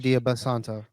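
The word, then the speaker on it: Dybantsa: AJ Dia Basanto, that's how you say his name.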